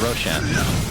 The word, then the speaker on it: Roshan: that Roxanne that's right Roshan is actually a word in Farsi which is why I pronounce it Roshan and it means bright it's ironic because he's